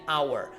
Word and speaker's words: hour: sound at all an hour this is an irregular word because we have no aspiration of H sound okay so not how